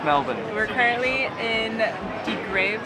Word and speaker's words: Melbourne: Yeah, so we know it's Melbourne.